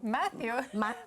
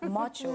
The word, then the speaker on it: Macho: Matthew? Macho. It's Macho. Spell it for me. M-A-C-H-O. It's Macho. You might call him Matthew.